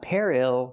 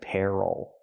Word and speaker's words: peril: look at this word this word is Peril not Peril but Peril stress is on the first syllable and what is Peril